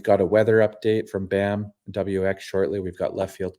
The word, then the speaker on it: BAMWX: the Futures podcast I've got Brett Waltz with bamwx am I saying that right Brett is it